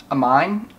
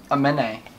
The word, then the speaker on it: Aminé: Amine? No, there's Aminé. Aminé. E with the thing is A. The A sound.